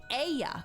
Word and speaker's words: Ea: Is it just E? Or is it Ia? I believe was the pronunciation used when referring to our people. Aya.